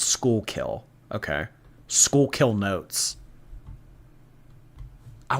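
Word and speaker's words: Schuylkill: I don't know um skull kill I thought it's pronounced skull kill skull kill notes skull kill wait I have those in Canada really School kill it's pronounced School kill okay School kill notes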